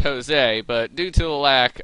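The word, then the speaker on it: José: a Spanish name and in Spanish it'd be pronounced Jose but due to the lack of an accent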